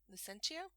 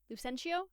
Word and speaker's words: Lucentio: It honestly changes based on the director and how they want it pronounced, how Italian they want to be.